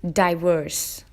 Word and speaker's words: diverse: the third word is diverse diverse all so has two syllables die and worse and as you would guess the syllable stress is on the second syllable worse so which makes it